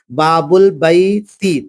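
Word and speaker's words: بابُ البيتِ: তাহলে আলিফ লাম, এই আলিফটা পড়াতে আসবে না, লেখার ক্ষেত্রে আসবে, একে বলা হয় হামজায়ে ওয়াসাল। তাহলে দুটো শব্দ যখন পাশাপাশি মেলাবো, অর্থাৎ আমি আরেকবার বলে দিই, ইসিম লাম তারিফ, অর্থাৎ আলিফ লামের পূর্বে কোন শব্দ আসতে গেলে আলিফটা উঠে যাবে, পরের লামের সঙ্গে মিলিয়ে পড়তে হবে বা বুল বাইত।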